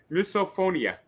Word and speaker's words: misophonia: I never know how to pronounce it correctly. Misop misophonia.